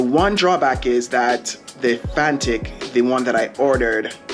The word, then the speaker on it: Fanttik: I believe the fantic I've been pronouncing it FANUC but it's fantic um has holds its